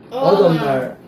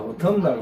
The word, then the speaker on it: autumnal: 어덤날. 미국 사람들은 어덤날. 약간 이렇게 더 굴러가. 근데 영국 사람 봐요? Autumnal. autumnal. 우린 이게 좋아. 어텀날. 확실히 T를 발음해 주니까.